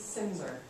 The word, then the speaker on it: Silmser: It's Silmser on the last name, if you care. It's spelled kind of strangely. Yeah, that L is silent.